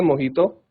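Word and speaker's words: mojito: हम पहले ड्रिंक बनाएंगे मोहितो मोहितो की स्पेलिंग मोजी तो है बट बोलना मोहित है ठीक है जी मोहित तो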